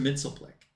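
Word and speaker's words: Mxyzptlk: them Mr mitzelpick yep I call him that because the very first time I ever heard her his name pronounced was on the Super Friends cartoon and that's how they said it Mr mitzelpick um now I know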